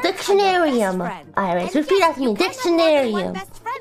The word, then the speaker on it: Dictionarium: She's just trying to pronounce the word. Hi there. There we go. Oh goodness. Dictionarium. It's called Dictionarium, IRyS.